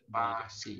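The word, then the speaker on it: 巴西: Pasi. Pasi. Pasi. Pasi, si nada satu, si Pasi. Pasi.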